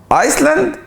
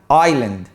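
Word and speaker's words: island: ورايا تشوكليت تشوكليت برافو الكلمه دي هتنطقها ايسلاند لا في كلمه اسمها ايسلاند بس هي بتتكتب كده لكن الكلمه دي اسمها اييلاند اه الاسيلند صح اييلاند اييلاند ايد يعني جزيره الكلمه دي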